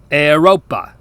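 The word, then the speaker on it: Europa: is pronounced d now the vowel combination EU is not strictly speaking a dip thong since it makes more than one sound we can somewhat hear each of the two letters distinctly is pronounced a if you just took the vowel sounds from the phrase heyu we can hear this sound in Latin words like the word for Europe eropa the combination OE is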